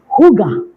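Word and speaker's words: hygge: okay Yankee YY golf Echo okay but it's pronounced Huga all right so what is the concept of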